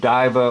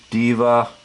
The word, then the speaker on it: diva: you want to say diva, depends on how you want to pronounce the I as an actual long I, or you want to give it an E sound, like a long E.